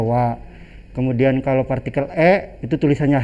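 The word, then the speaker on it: は: Jadi kalau awal-awalnya itu ya seperti itu karena partikel dibacanya wa.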